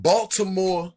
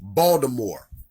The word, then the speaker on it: Baltimore: And I'm from Baltimore, Maryland, where a lot of people that's from here, they don't say it right. They say Baltimore, Maryland.